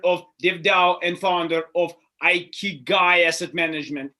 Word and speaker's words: Ikigai: It is, though, pronounced Ikigai.